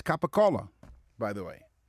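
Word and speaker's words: capicola: would say riotta or gabagul. There's a c in there. It's capacola by the way.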